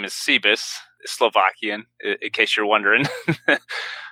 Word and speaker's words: Sebas: and Evans sure sure sounds good so the pronunciation of the last name is C Biss Slovakian in case you're wondering everyone just calls me sea bass whatever you prefers fine by me so my